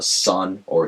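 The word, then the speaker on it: Sunn O))): me of was uh sun or it's pronounced in their logo Sun o in case uh yeah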